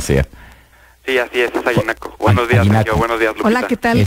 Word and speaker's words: Aguinaco: pronunciando bien el nombre Porque este nombre se pronuncia aguinaco o aguinaco dependiendo de Qui de quién sea sí así es es aguinaco Buenos días Hola Qué tal Cómo estás Andrés